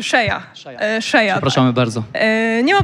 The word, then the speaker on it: Sheyaa: Chciałabym od razu też sprostować, że tutaj mój nick czyta się Szyja.